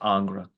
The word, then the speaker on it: Ingres: component of our meeting today, which included a quote from Ingres, sometimes called Ang, but I think it's properly pronounced as Ingres, Jacques-Dominique Ingres.